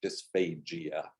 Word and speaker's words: dysphagia: So I pronounce it with a very hard G, dysphagia.